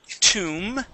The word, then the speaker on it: tomb: go to the word tomb right here this is going to be a an oo sound long oo or long u so we're going to